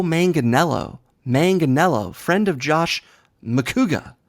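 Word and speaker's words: Manganiello: number two Joe manganelo Natasha called him Joe Michelangelo it's Joe manganelo manganelo friend of Josh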